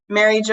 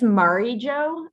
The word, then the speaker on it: Mari Jo: Really quickly, Mary Jo, I always say Mary Jo, but I've heard Mari Jo for your name. What do you prefer? What's your actual, I want to make sure I say it right. Oh, thank you for checking. It's Mari Jo.